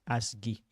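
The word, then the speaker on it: ASGI: Another thing to look at is the asgy.py, or what they pronounce as ASCII.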